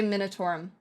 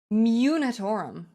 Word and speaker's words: Munitorum: I always say it wrong. I always want to say Minatorum. Munitorum.